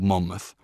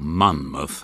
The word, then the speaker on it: Monmouth: give up geography early Monmouth or Monmouth as I pronounce it is on the fringes